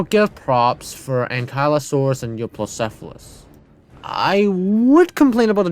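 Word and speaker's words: Euoplocephalus: We're going to be placing it side by side with the Euplocephalus, or what the gaming beaver calls eucalyptus. Man, I watched some of the gaming beaver's videos. He just can't really pronounce stuff correctly.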